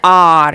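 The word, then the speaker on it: hour: हैड to wait for एन आर क्योंकि आर है और एच की साउंड यहां पे साइलेंट है तो ये वावल साउंड है तो एन आर एट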